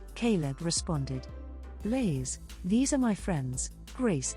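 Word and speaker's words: Blace: who's this Grace queried this is bla my cousin pronounced like blae but spelled b l a c e Caleb responded Blaze these are my friends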